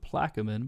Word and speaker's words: Plaquemines: Also, you have those who live in, I pronounce it Plaquemine, but here in the textbook it's called Plaquemines Parish.